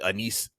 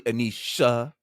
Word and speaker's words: Anisha: So Anise, it's actually Anisha.